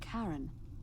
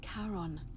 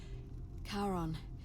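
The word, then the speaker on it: Charon: is a little off the name you heard wasn't Karen it was c h a r o n as in Kon the the Fairman of the Dead Kon who in exchange for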